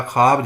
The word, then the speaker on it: خواب: وزن بھی، اسی طرح خواب جو ہے یہ ایک ہجے بلند اور یہ جو ہے ہجے کوتاہ، خے الف خا اور بے، یہ واو جو ہے اس میں شمار نہیں ہوگی۔ خے اور الف مل